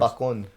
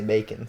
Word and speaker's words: Bacon: So it's spelled like it but not pronounced. How how is it pronounced? Bakon. Bakon. Usually there's an accent, but when people type it out, they can't put that accent. So they say bacon.